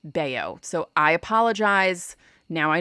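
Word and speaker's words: Bello: wrong yesterday i apologize i should know that b-e-l-l-o when the player is dominican is probably yeah pronounced baio so i apologize now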